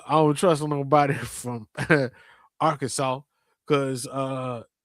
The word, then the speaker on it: Arkansas: An 1881 state law declares the only acceptable pronunciation is Arkansas.